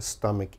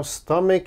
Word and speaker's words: stomach: my students often mispronounce same problem there's a ch so they say stomach oh please don't say stomach never say that it is always stomach stomach strong k sound here stomach all right